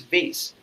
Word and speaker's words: vase: then I realized no there are two pronunciation of the same word it's vas and vase both are correct right so there are